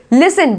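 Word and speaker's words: listen: लिस्टिन पढ़ोगे क्या इसको? लिस्टिन लिखा तो भाई यही है, तो जो लिखा है वही पढ़ लेंगे। अगर आपको प्रोनाउंसिएशन नहीं आता होगा तो इसको पढ़ेंगे लिसन।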